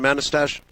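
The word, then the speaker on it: Manastash: I guess all right how do you pronounce the name of your town manistasia oh that's right thank you it sounds like mustache it does um thank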